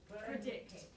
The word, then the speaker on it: predict: predict predict predict predict it's more by predict because you're going you're heading toward the second syllable so you don't put a lot of stress on the vowel on the first one predict predict predict okay